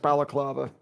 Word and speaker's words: balaclava: don't know, maybe it's a Russian thing, and maybe I'm pronouncing it wrong, but I'm fairly sure it's pronounced balaclava.